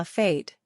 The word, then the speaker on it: fête: if one says la fête, the party, the vowel is long, as in hey.